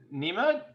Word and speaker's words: Nima: So, Nima, is that your name? Is that pronounced right? Yes.